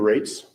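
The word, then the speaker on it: Raatz: in at home my name is Captain rates last name is spelled ra a a TZ and I'm the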